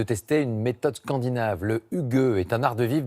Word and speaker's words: hygge: Un petit rituel inspiré de ce mot déconcertant qui se prononce hygge, l'art de vivre à la danoise.